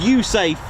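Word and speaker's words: USAFE: Now, it serves as the United States Air Force in Europe, pronounced U Safe, and it's got a combined fourth-gen classic marvel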